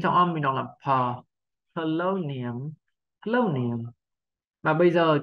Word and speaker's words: Polonium: Âm tiết đầu tiên không nhấn trọng âm, mình đọc là pờ, lâu niềm, lâu niềm.